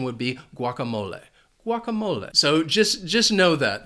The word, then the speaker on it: guacamole: I love guacamole. And it has 4 syllables, and the stress is on that third syllable.